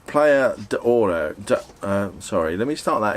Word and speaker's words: Platja d'Aro: I think it's probably pronounced Platja D'Oro. Sorry, let me start that again. It's probably pronounced Platja D'Oro. It's spelt Platja D'Aro.